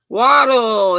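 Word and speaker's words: wattle: of british folks doing this yep cherry k waddle it's a waddle and i think they spell it w-a-t-t-l-e but if you didn't if you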